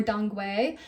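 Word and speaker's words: dong quai: base I also put Don Kai or dongu um dongu is the correct way to say it but you'll also see it as Don Kai it's a very beautiful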